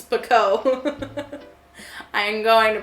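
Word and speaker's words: Pekoe: It's Pico. I am going to pronounce it wrong forever.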